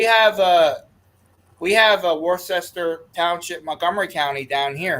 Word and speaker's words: Worcester: a we have a war sester Township Montgomery County down here it's Worcester yeah down here they call it War sester yeah that's like when